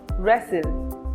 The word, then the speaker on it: wrestle: W is silent in a word when it precedes R. For example, wrestle or wrong.